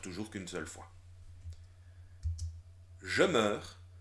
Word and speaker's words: meurs: Je meurs. C'est vrai que tu entends E dans meurs, mais le E s'écrit EU.